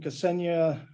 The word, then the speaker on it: Ksenia: It's Ksenia, like the country Kenya with an S, Ksenia.